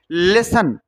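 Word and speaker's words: listen: मतलब आधा L silent लिसन तो लिसन ई यहां तक टी साइलेंट है इसमें टी का क्या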